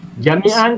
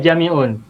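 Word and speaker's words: جميعا: Dan bacanya fathatain, mansub. Jami'an tidak jami'un. Kafatan tidak kafatun.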